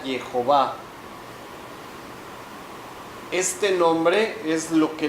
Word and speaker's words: Jehová: Entonces, el nombre original de Dios en hebreo es solamente uno y se pronuncia Jehová.